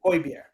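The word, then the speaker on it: Højbjerg: remind the people so ybeer is spelled h-o-j b j e r g koi bear it's fine it actually makes sense right if you're Scandinavian um one day I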